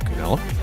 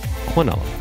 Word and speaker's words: quinella: That's a nice way to start a Quinella. Or for those of you who prefer the other pronunciation, Quinella.